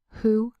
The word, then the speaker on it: who: Wh usually says W, but it can also say H in words like who, whose, whole, whom, and whomever.